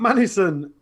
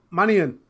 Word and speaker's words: Manion: Matt Manison. I said it right. No, Manion.